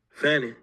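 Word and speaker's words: Fani: Fannie.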